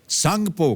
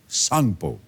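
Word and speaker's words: Tsangpo: वह तिब्बत चीन में है और वहां इसे सांगपो कहा जाता है सांगपो यानी कि टी एस ए एन जी पीओ इसकी स्पेलिंग है अरुणाचल से गुजरने वाले इस हिस्से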